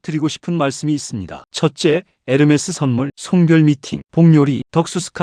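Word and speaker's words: Hermès: 첫째 에르메스 선물 송별 미팅 복요리 덕수스 심 선배님 헬레나조 마누라 선물 아이디어 예산 1000 마 2,000불 herms h 발음 무금 몰라서 몇 번 지나침 명품 가격표 이시오함 한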